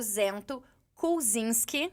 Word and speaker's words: Zento Kulczynski: Nosso entrevistado de hoje é o Zento Kulczynski. Acertou. Ai, eu treinei tanto esse momento. Acertou uma das 10 formas de pronúncia, mas acertou. Inclusive, o Zento me deixou tranquilo que qualquer forma que eu falar, você tá certo.